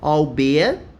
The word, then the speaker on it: albeit: And we have this exotic word, which is pronounced albeit, meaning even though, although, notwithstanding, right?